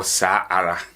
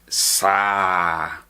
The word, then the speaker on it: saa ara: Ghanaians in the public, you will never hear seyara or saara. You will only hear seya and sa. So take note of that. We pronounce them seya and then sa.